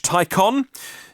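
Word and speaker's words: Taycan: charges being tested with CCS charges a Porsche Tyco on yes its spelt taken pronounced icon test model three Mercedes EQC Renault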